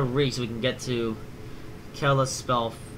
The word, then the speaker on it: Kalispell: we can get to kill a spell faster or Kalispell I it's pronounced so the past 45 minutes